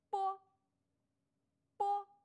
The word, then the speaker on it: b: 收音机，他的读音也和广播的播很像，只是要把这个音读得轻短。